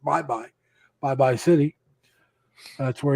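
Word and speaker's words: Baybay: Philippines and uh he that he said uh bye bye City or it's spelled baby b-a-y-b-a-y but it's pronounced bye-bye bye bye City that's where his wife is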